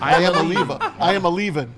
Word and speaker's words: Iamaleava: How do you want to pronounce it? Iamaleava, because he's leaving.